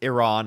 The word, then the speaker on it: Iran: He says it he says it with separation, too. Iran like dude, it's Iran.